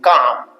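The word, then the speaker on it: काम: It is calm. We pronounce this as calm.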